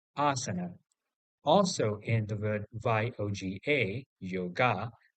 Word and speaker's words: asana: Now, interestingly, in English, we pronounce the word asana as asana normally. And interestingly, it is only the first vowel, that is A, having a macron above it in IST, which represents the sound A. The remaining two A are in reality the schwa, so correctly pronunciated as asana.